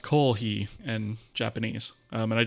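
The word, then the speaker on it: koohii: I love coffee and kohi is sort of a misspelling of the japanized version for the word of coffee which is kohe but it's spelled k o o h i i I believe so it's pronounced Koh he in Japanese um and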